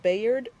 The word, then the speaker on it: Bayard: let's start with I I've heard his name pronounced a couple of ways Bayard and byard R I believe it's byard byed okay and his partner told